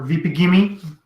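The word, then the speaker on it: Vegepygmy: These look like veggie pygmy. Oh shit. Veggie pygmy? Yeah, or vipigimi, depending on who's pronouncing it.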